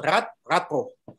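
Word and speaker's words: Radbruch: En alemán se pronuncia Radbo.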